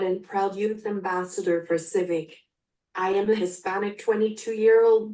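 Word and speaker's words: CYVYC: Youth voice youth Choice c y v y c pronounced Civic like the Honda and informing people about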